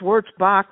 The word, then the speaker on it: Wurzbacher: any relation well it's it's wors Bach Road without the ER but this is the